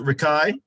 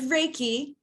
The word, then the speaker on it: Reiki: to me about uh is it pronounced rikai uh it's Reiki Reiki Reiki okay yeah so um